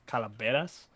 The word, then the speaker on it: calaveras: i going to say calaveras that's what it is i think i think the v is pronounced as a b though calabrese so that's what for